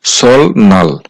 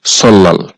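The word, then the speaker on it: 설날: আবার নিউন আছে এখানে শব্দটার উচ্চারণ হওয়ার কথা ছিল সলনাল কিন্তু বাচ্চিমের রুলস অনুযায়ী এই শব্দটার সঠিক উচ্চারণ হবে সল্লাল নোট এখানে উপরে যে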